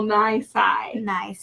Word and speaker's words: nisi: right that's right and when you read Latin you would say roll rule Niecy exactly but the Americans and the British actually pronounce it rule 9 sy right so what does